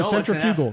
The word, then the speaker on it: centrifugal: uh is the one oh no centrifugal no centrifugal centrifugal oh go can't read that's the correct that's the correct Force